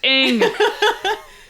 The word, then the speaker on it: Ng: And her Twitter handle says like, it's pronounced Ng. and it's NG.